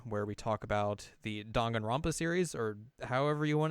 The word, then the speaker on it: Danganronpa: I don't know what that sounds like, but like if you think of how Japanese a's are pronounced, they're like ah. So it' be like d and got ronpa.